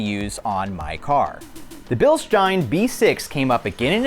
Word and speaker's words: Bilstein: Yes, Bilstein, not Bilstein. I'm gonna try to use the correct German pronunciation in this video.